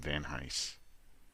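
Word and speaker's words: Van Hise: away, written by Jim Va Hise. If I said Hein earlier, I was wrong. Jim Va Hise, I think that's the way it's pronounced, writer of Vegas Nights,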